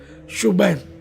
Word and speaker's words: شبیر: تو ہے نہیں، حسن، اور شبیر شبیر نہیں بلکہ اصل تلفظ ہے شبیر۔ تو یہ ہو سکتا